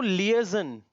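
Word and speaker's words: liaison: अब इसको लिएजन, क्या पढ़ते हैं? लिएजन, करेक्ट। इसको मेजोनॉट, सॉरी मेजोनेट। अब ये बीरे, प्रोनाउंसिएशन रिपीट करते हैं, फसाड, लिएजन, मेजोनेट, बीरे।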